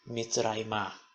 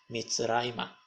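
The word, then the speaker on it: מצרימה: é o ra MIT quando colocamos o ional para dizer em direção ao Egito não vira Mitra o assento continua Ná então fica MIT raima MIT raima que é em direção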